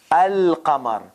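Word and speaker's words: القمر: but at this point moon letters they don't take shadda and the article alif article is like the the moon the moon so article alif the lam is pronounced al kamar in sun letters there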